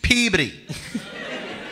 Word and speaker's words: Peabody: And that's how you spell it, Peabody. Peabody. That's how you pronounce it. That's how people in Peabody pronounce it. That's the right way to do it.